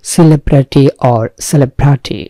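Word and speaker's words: celebrity: সেলিব্রিটি অর সেলিব্রিটি, এইটাই হচ্ছে উচ্চারণ।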